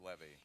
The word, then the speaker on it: Levy: It is going to be fun, and incidentally, it is Levy. My name is pronounced Levy.